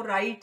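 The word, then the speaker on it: write: नस में लिखता हूं अब आप देखिए राइट के स्पेलिंग में पर गौर करें और राइट में हम डब्लू तो लिखा हुआ लेकिन इसको बोलते नहीं है जब हम प्रोसेस करते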